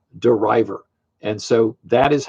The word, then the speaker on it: De River: University but he came up with the name deriver and so that is how you pronounce his name it's deriver as in deriving um I could say a